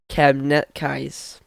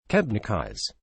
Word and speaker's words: Kebnekaise: I mean, we Swedes call our tallest mountain Kebnekaise, which is not. It's a butchered pronunciation.